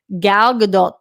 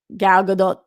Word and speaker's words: Gal Gadot: Katie in the Streamlab says, according to GQ, an insider, Gal Gadot's name is pronounced to rhyme with dot, not dough.